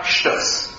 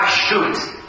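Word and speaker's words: שטות: about kaparot, v'hu minhag shtus. I said that specifically Ashkenazi pronunciation because the Hebrew is the Sephardic one is less obvious to people. Minhag shtut would be to say it in Hebrew.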